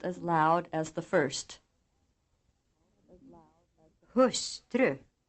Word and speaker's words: hustru: Hustru, långsamt, någon, smörgås. These words are written as hustru, långsamt, någon, and smörgås, but pronounced, using accent 2, with the second syllable almost as loud as the first.